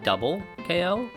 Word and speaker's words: 2x KO: Even okay, even if the name was 2x KO, right? But it was pronounced double KO, right?